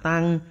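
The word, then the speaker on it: 桑: Tên của cây dâu tằm trong tiếng Hán đọc là tang, nó khiến ta liên tưởng đến sự tăng tóc và chết chóc.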